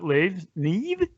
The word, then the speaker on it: Niamh: Niamh. Sorry, it's an interesting name. It doesn't how it's spelled is not how it sounds.